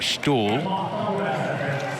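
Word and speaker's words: Ståhl: his stall and uh it's spelt style but apparently in the local lingo you do pronounce his name stall and his open up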